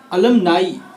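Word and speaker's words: alumni: अलुमनाई, ना कि अलमनी या एलुमनी।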